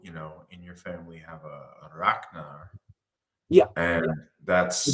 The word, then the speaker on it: Ragnar: You've also, in your family have a Ragnar. Yeah. And that's the G is K. Yeah, and it's a very hard G.